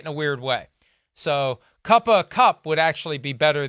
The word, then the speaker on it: Cooper: and it's kind of that, remember that, like, and it's that, they have that bizarre pronunciation of Cooper Manning. It's Cuppa Manning. So right. isn't it like this weird Southern Cuppa?